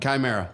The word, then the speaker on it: Chimera: So you guys have a brand new album out, and I'm gonna try to pronounce the name correctly. Chimera. Chimera.